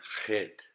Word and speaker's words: chet: the kaf and the chet. Chet, which is a CH, pretty much.